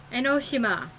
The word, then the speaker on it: Enoshima: Stop pronouncing her name wrong. 'Cause Junko Enoshima is... Enoshima. Say it with me. Enoshima.